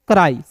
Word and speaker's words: cry: देखिएगा एग्जाम्पल के तौर पे देखेंगे CRY, तो CR को दोस्तों क्या पढ़ेंगे, क्रॉ, CR को क्रॉ पढ़ेंगे और अंतिम में आया वाई जो दोस्तों है इसका उच्चारण आई के रूप में करेंगे, तो CRY क्या हो जाएगा दोस्तों, कराई। CRY को क्या पढ़ेंगे, कराई पढ़ेंगे, ठीक है।